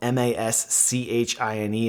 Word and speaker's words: Maschine: Maschine, spelled M-A-S-C-H-I-N-E, is actually pronounced Maschine, technically. It's the word for machine in German.